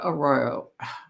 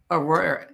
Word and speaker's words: Arroyo: My pronunciation. Arroyo. Elijah Arroyo. Arroyo.